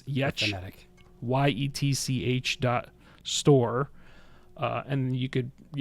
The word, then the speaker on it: Yetch: I should say the way she spells her name is not how it's pronounced. Oh yeah. And the way she created her store is how you pronounce her name. So it's Yetch, YETCH .store.